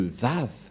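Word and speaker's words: וָו: langue mais parce que pour les Juifs on lit W par vav ou V ça se prononce V on va regarder ici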